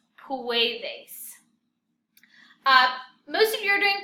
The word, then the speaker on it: puedes: word is really weird puedes it's almost like poo a days puedes most of you are